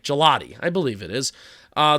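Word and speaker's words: Gillotte: to guess 23 yes it's pronounced like the ice cream like gelotti I believe it is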